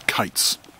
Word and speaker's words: quoits: So there's a confusion that the local pronunciation was kites.